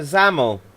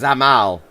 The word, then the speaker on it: Zamal: We're waiting for Zamel. Let's type to him. I spelt his name wrong. He's not going to be very pleased with that. Zamel. It's not, it's Zamal.